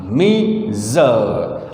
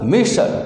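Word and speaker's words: measure: बारे में, कि ए मेजर। अब इसका वर्ड देखिए, लोग इसे मेजर बोलते हैं, ये रॉन्ग है, मेजर नहीं है यह है Meeser, मीजर, Meeser, Meeser, मेशर।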